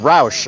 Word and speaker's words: Roush: Darth says it's pronounced Roush.